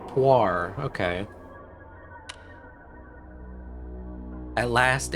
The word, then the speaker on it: Puar: Pronounced Puar.